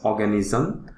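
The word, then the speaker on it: Oganesson: this new element that was synthesized in 2006 pronounced as organism so we are looking at the calculation we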